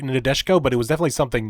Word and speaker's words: Nadeshiko: I've been calling it Nadeshiko. I've been pronouncing it wrong this whole time. It's Nadeshiko.